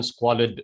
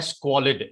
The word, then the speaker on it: squalid: lived in multi-story apartment buildings that were often squalid squalid is how you pronounce the words call it means something that is extremely dirty okay something that is untidy extremely dirty and you pronounce the word squalid s-q-u-a-l-i-d squalid let's call it fire traps public